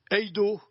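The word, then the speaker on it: εἴδω: ce verbe voir justement qui se prononce heido en grec.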